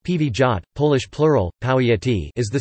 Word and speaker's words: powiat: A powiat, pronounced pivijat, Polish plural, powiaty, is